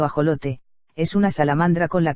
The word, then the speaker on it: axolote: en declive más información e laxo lote mexicano pronunciado ajolote es una salamandra con